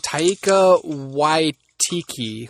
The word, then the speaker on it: Taika Waititi: I don't know how to pronounce it. It's like Taika Waititi or Waititi, something like Waititi, something, I don't know.